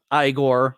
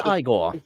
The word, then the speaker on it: Igor: in a fan the perfect choice for eigor igore rather Frankenstein then you're Igor no it's igore it's pronounced igle so and his the moving of